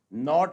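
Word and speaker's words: knot: तो इन सब में क्या है? के is silent, this is common thing.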